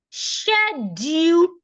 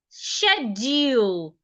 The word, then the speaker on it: schedule: The other two pronunciation can be schedule or schedule. Now, for these two pronunciations as well, they have the same initial, scare, but of course the DU differs. So many times you're not mispronouncing, you just feel like you're mispronouncing the word, except you have preference. Two of them are Americans, 2 of them are British.